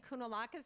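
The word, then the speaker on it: Kounalakis: governor Elena I'm going to say it right kunalakis did I get it all right he's welcome lieutenant governor good morning everyone I'm Eleni kunalakis I'm the lieutenant governor of the great state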